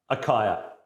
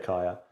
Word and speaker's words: Acaia: Akaya is how I say it. No one's corrected me. Feel free to correct me in the comments if you want. But yeah, I say Akaya, and they are a fantastic scale.